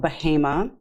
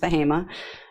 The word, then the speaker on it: Bahama: a very rural area of North Carolina called bahima um spelled Bahama but pronounced bahima and we're about 25 minutes north of Durham